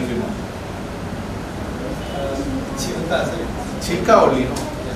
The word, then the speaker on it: Chilka: Chilka, sir, not Chilka.